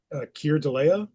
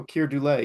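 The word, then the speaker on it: Keir Dullea: The guy from 2001, Kier Delea. Oh, Kier Dule.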